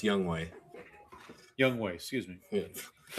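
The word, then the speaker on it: Younghoe: I believe it's pronounced Young Way.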